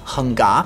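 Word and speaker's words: Hung Ga: He learned Hong Jia Quan, which in Cantonese is pronounced Heng Ga, which is a tiger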